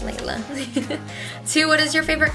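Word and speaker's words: Lelia: name so funny story my middle name is pronounced apparently or so they say Laila but it's spelled LEL l IA so whose fault do you think yeah so anyways it's pronounced Laila but the L comes before the I like I thought if it would be Laila it BL e I ll a love instead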